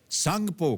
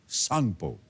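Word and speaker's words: Tsangpo: वो तिब्बत चीन में है और वहां इसे सांगपो कहा जाता है सांगपो यानी कि टी एस ए एन जी पीओ इसकी स्पेलिंग है अरुणाचल से गुजरने वाले इस हिस्से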